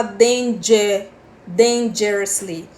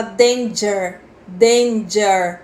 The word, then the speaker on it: dangerously: aqui tem uma coisinha você não fala Dendê Dendê Jersey você fala danger danger puxando para um Ah